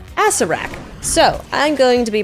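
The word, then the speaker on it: Acererak: Apparently it's pronounced Acerak.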